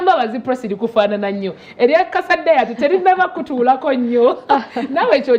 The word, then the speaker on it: Kasa Diet: Okay, erinnya lyange nze Kasa Diet. Kasa.